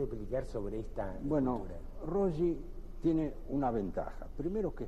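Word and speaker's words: Röyi: la obra ri rogi rogi no lleva dos puntitos Sí pero la pronunciación finalmente se es fonética es rogi Es rogi eh Bueno estamos con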